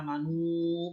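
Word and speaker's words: آمنوا: Amanu ida itu majaiz munfasil ya. Karena ada mad bertemu dengan hamzah pada kalimat yang berbeda atau dalam dua kalimat. Itu bacanya panjangnya antara 2 sampai 5 harokat ya. Amanu panjang.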